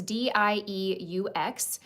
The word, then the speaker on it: Dieux: So this is the brand, I think you pronounce this Dieux. It's Dieux, and this is the Instant Angel Lipid Repair facial moisturizer.